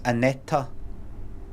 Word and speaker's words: Aneta: don't say it's not it's not pronounced Anette it's aneta like that stay away from Teflon